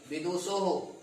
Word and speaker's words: विदुषः: और आगे चलिए षष्ठी विदुषः एक विद्वान का, है ना, विदुषो हो, यहाँ पर ध्यान दें, विदुषो ओ की मात्रा और विसर्ग लगेगा, विदुषो हो उच्चारण भी।